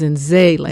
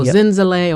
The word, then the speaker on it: Zenzalai: zenzele okay right zen zele like the middle the middle uh syllable is zenzeley because people go zenzale or zanzali or it's in zelie and then right